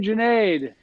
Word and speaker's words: Junaid: you do absolutely so my name is Junaid it rhymes with lemonades if you don't know